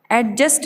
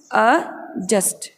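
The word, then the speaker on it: adjust: एडजस्ट नहीं बोलना ठीक रहेगा, एडजस्ट नहीं बोलना है हमें बोलना है अजस्ट, एडजस्ट।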